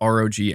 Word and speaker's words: ROG: meant to be said maybe I could just say Rog Ally it's the same I'm just not sure with these things you're saying Rogue is how you pronounce it that actually I think